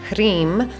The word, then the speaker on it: Hrim: So this one has Om at the beginning, and then the Hrim, H-R-I-M, that is a fire syllable. So it's involving the H is related to the breath, so the Ha, so Hrim, and then the R is a fire consonant.